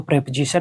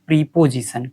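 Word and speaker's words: preposition: ठीक है, प्रेपोजिशन, इसको जनरली लोग ये कहते हैं कि प्रीपोजिशन। प्रीपोजिशन नहीं कहा जाता है इसको। ठीक है, इसका प्रोनाउंसिएशन होता है प्रेपोजिशन।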